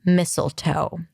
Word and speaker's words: mistletoe: And then the O is in go at the end. Mistletoe.